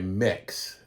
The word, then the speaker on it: Mx: miss miss or mr it goes by mix mx pronounced like mix so there are i